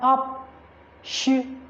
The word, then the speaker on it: optional: Then for optional, you also have 3 syllables. You have optional. So the word ends with al. So the syllable, the stress has to fall on the 3rd syllable, counting from the end. So the 1st syllable at the end is NAL. The 2nd one TO, and then the 3rd one OP. So it has to be on optional. Optional.